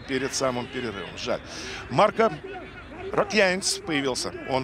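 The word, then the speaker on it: Раконьяц: И Артем Загуменов мне сообщил, что на букву «Я», то есть на последний слог ударения у этого балканца. Так что он Марко Рокьянец.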